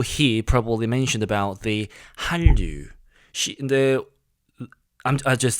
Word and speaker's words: Hallyu: So I looked up and I found out Hallyu is basically the same pronunciation of Korean word Hallyu, Hallyu, the same word, and